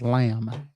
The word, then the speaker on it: Lam: is a picture of Liam lamb I'm sorry it's lamb L that's what we're about to talk about just a little bit now there's not a whole lot of information on lamb a lot more speculation